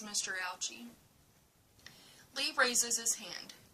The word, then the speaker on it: Ouchy: father's name says Mr ouchie Lee raises his hand your name rhymes with grouchy grouchy ouchie are you